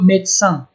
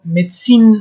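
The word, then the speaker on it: médecin: به زبان فرانسوی به دکتر میگن لو میدسان، لو میدسان، میدسان این تلفظ نمیشه و آیم میدسین نمیشه، چون میدسین آخرش ای میگیره و میدسین طب و طبابت میگن. لو میدسان، لو میدسان، میدسان دکتر میگن.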